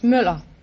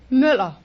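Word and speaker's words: Møller: Moeller, is that right? No, it's Müller. It's what? Müller.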